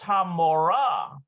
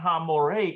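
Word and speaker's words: המורה: So, and so that makes this Hamorah, not Hamoreh, even though Hamorah, it's spelled exactly as if it was Hamoreh.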